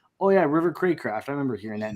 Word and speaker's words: Craycraft: I mean, River Crackraft. Who knew? I didn't. I looked. It could be pronounced like Craft. It is Craycraft.